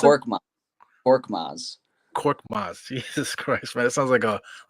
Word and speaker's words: Korkmaz: How do you pronounce it? Korkmaz.